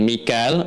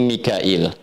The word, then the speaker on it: Mikail: Jibril dengan Mikal. Mikal itu ee riwayat hafz dari Asim. Di riwayat Qun kemudian Warasy dari Nafi dibacanya Mikail ya. Makanya kita bisa baca dengan Mikal ya atau Mikail.